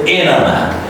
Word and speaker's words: internet: After NT, there is a lax vowel E sound. So you don't say internet, you say internet. Here, the T is silent, all right?